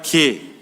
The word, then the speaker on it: 게: 발음이 좀 개가 아니라 게.